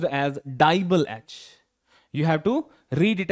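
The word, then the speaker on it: DIBAL-H: is something which is uh which is uh pronounced as dble H you have to read it as dble h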